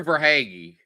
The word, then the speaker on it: Verhaeghe: The thing is that like Carter Verhaeghe, I'm assuming I'm pronouncing that right.